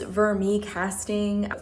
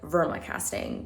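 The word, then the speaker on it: vermicasting: just as an FYI it is vermic casting for whatever reason in the video I keeps pronouncing it like Verma casting so if you want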